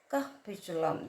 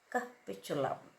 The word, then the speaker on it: capitulum: Capichulum. That's how you pronounce. And it's spelled as c a p i t u l u a pronounced as capitulum.